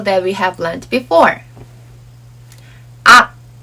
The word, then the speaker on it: 악: And this sounds like 악. Some people match the final consonant 기역 sound with an English alphabet G or K. But this causes wrong pronunciation for some words. This letter sounds like 악, not ag or ak.